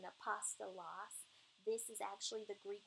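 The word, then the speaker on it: ἀπόστολος: If you just write out what these words sound like, so that the alpha, a P, you know, O-S-T-O-L-O-S, and then just try to pronounce it that way, then you'll get the pronunciation, apostolos.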